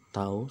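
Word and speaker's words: τ: Oke, yang ketiga, rumus torsi adalah torsi atau tau, cara bacanya ya, tau sama dengan F dikali R atau gaya dikali dengan panjang lengan.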